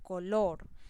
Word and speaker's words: color: Entonces vemos el ejemplo: color, yo hago la mayor intensidad o fuerza en la sílaba lor, ¿cierto?